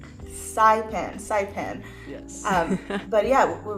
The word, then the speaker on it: Saipan: Am I pronouncing that correctly? It's Saipan.